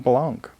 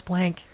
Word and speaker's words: Blanc: And of course, you got to go with Joan Bennett as Madame Blanc. Who they always pronounce blank in that Well, movie.